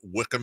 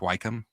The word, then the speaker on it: Wycombe: It's actually pronounced Wycombe. This is not pronounced Wycombe, you wiener.